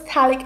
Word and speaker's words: phthalic: Even though it's P, the P is silent, it is pronounced as phthalic acid, TH is phthalic acid. PH is silent, not P, sorry. This is gonna be PH. So phthalic acid, not phthalic acid, it's called phthalic acid.